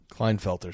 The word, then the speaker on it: Klinefelter: condition called clinda felter syndrome here will you pronounce that for me Klinefelter syndrome Klinefelter's syndrome for those of you don't